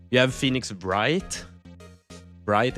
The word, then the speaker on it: Wright: Bright. It's like w i g ht, but you say it like right because it's always right, you know.